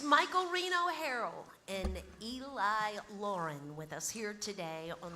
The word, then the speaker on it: Laughrun: So, but it's pronounced Lauren, even though it looks like. So, uh, if you're searching them out, look for Eli Lafren.